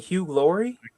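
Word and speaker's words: Laurie: Hugh Lori. Hugh. Oh, Hugh is pronounced Hugh Lori.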